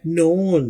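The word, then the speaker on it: known: टिप और देते चलें जब भी एन से पहले के आ जाए तो उसे प्रोनाउंस नहीं करते जैसा कि नाइफ के एन आई एफ E knife उसमें भी के प्रोनाउंस नहीं किया जाता तो यहां पर भी नोन एन की आवाज है के की आवाज नहीं है ही शुड हैव नोन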